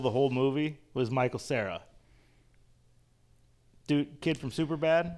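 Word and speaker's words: Cera: yeah so Good Michael Sarah yep I've never understood why his name's pronounced like that isn't Sarah supposed to be s a r a English is weird or with an H at the end his last name is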